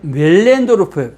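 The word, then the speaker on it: Möllendorff: 이 사람이 우리는 밀렌도르프인데 원래는 멜렌도르프 발음을 그걸 또 바꿔야 돼.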